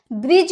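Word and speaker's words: bridge: कुछ नहीं होता है, ब्रिज होता है, क्योंकि जी का पहले डी आया है इसीलिए वो साइलेंट होता है।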